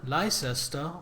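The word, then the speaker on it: Leicester: Same with Southwalk or s Southwork suck or the uh the worst criminals with that regard is places like Warcester sire Leester Lester or Glouester Glowester Edinburgh Bruh Edinburgh is uh is not nearly as bad.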